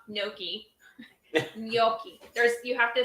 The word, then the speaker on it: gnocchi: Y in there apparently none of us pronounce the G though so I think we're